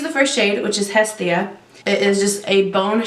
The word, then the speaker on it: Hestia: first shade which is Hestia it is just a bone shade according to google the way the the Greeks spell it they don't pronounce the H so it's s da it says that this